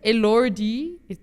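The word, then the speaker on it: Elordi: And um Jacob Elori, that's how you pronounce his surname.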